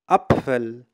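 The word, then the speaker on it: Apfel: اذا ب مع الاف الحرفان ب اف تنطق بف اذا بف اذا مثل حرف الباء والفاء مع بعضهم باللغه العربيه بف بناخذ امثله لتتوضح الفكره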